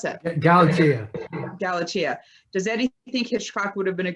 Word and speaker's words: Galatea: Recently, Eddie said that the one book he wished could be made into a film noir was Cain's, how do you pronounce that? Galatea.